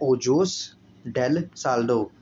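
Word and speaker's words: Ojos del Salado: ये है ओजोस डेल साल्डो, spelling बोल देता हूँ कि अगर आप नोट्स बनाते होंगे कि आपको आसानी होगी, OJOS ओजोस DEL डेल SALDO साल्डो।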